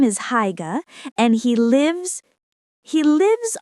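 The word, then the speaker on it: Haigha: His name is Higa. He pronounced it so as to rhyme with mare.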